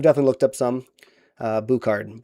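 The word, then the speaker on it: Bouchard: So, I I've definitely looked up some uh Bukard. Bukard is how you pronounce it.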